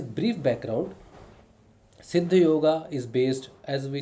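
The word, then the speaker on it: योग: not yogurt's yoga so we mentioned in english yoga but the exact word is say the yog all right so if i pronounce it yoga then i'm just going with the flow what is written the actual word is yog siddhi yog is based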